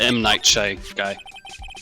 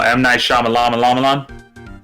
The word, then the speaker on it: M. Night Shyamalan: I can't even pronounce his name correctly because of it. But M. Night Shy guy. Oh, M. Night Shyamalan.